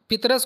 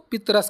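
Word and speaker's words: پطرس: ठीक है, अगर पितरस को अंग्रेज़ी के एक्सेंट में पढ़ेंगे आप तो पीटर्स, इस तरह होगा पीटर्स। चूँकि उर्दू का लहजा इसलिए इसको पितरस करते हैं, तो को साइलेंट कर, ये साकिन कर देते हैं, पितरस या पीटर्स। तो इसलिए पतरस तो किसी तरह से नहीं है, पितरस है।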